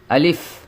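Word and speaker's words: ألف: তাহলে এখানে বুঝলাম আলিফটা কিভাবে উচ্চারণ করতে হবে? দুই ঠোট লাগবে না, লম্বাও হবে না।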